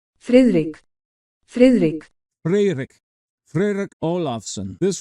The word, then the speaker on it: Friðrik: I think it's fic you don't hardly say the D it's sort of a soft rolling D with that little line through it let me give you the Google pronunciation frck frck FR Fric frck olafson